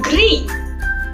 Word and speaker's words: gris: So now coming up next to gris.